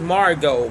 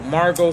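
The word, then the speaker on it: Margeaux: She is Margot. Margot spelled with G-E-A-U. She took the Creole spelling for her name.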